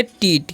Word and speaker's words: teat: तो इसे हम क्या पढ़ते हैं, इसे हम पढ़ेंगे टीट।